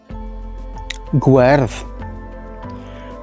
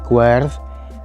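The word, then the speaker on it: gwerdd: other hand has this masculine and feminine queerth guerve notice that the light sound is in the feminine guard and the dark sound weird is in the masculine and you'll see that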